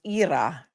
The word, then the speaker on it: Ira: Thank you, Sherry, for pointing out that Ira is pronounced Ira in Russian and Ukrainian.